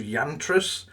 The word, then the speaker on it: Yantrs: Ed uh this is I think it's meant to be pronounced somewh along the lines of yantas but it's a 50